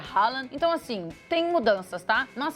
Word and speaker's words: Haaland: gente falava Holland, agora é Haaland.